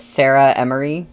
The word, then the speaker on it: Sarah Emory: I think I I pronounced your name wrong last time because I thought it was like one word, but it's Sarah Emory, right?